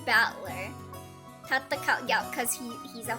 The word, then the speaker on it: Battler: And it's pronounced battler.